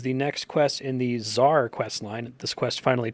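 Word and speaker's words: TzHaar: The Elder Kiln is the next quest in the Czar quest line. This quest finally taught me that I was pronouncing that wrong. It's not Tizar, it's just Czar.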